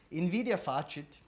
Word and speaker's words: invidia facit: Envy makes it so, invidia facit, I use the scholastic pronunciation here, invidia facit, envy makes it so